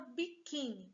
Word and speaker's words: biquíni: A sílaba mais forte é a penúltima.